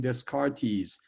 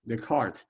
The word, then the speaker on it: Descartes: in there right and but you do not pronounce his name descartes his name is the card and so and somehow this d e disappear